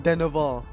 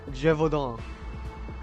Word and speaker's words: Gévaudan: I said like Deneval, but instead it's Gévaudan.